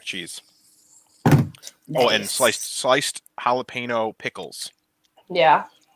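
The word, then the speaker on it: jalapeño: oh and sliced sliced jalapeno pickles yeah I'm sure you pronounced that incorrectly it's pronounced jalapeno um yes I'm using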